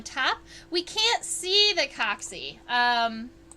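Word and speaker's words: coxae: inside from the top we can't see the coccy um coccy is spelled like this in case you are curious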